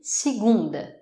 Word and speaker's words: segunda: Alors, on va commencer avec lundi, segunda. Segunda. Et oui, la syllabe forte est l'avant-dernière, ce qui fait qu'on entend pratiquement par la fin du mot. Segunda.